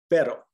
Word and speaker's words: pero: produce two sounds uh it can produce kind of a subtle almost d like sound or t sound d it's very subtle and that's if it's just a singular r like these words on the left repeat after me pero pera zero all